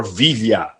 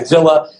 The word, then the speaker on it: Villa: vivia Vijay it is it's actually it's the latter if you ask my late grandfather he was born in that in Cuba so the the correct pronunciation is is the Hispanic pronunciation but I go by Villa just makes it easier and because I get